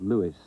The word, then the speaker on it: Louis: Century it did Mrs Armstrong called her son Lewis that's how he pronounced it though The Habit never